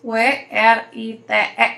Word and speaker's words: write: lihat tulisan write, menulis W-R-I-T-E, nah W-nya tuh nggak dibaca, write. Kenapa nggak dibaca? Karena ternyata si Walrusnya itu dicuri sama suaranya sama si red robot. Jadi kalau misalkan ada tulisnya write, menulis, nah dibacanya cuma write, bukan write, bukan. Jadi dibacanya itu write, ya si R-nya yang bersuara.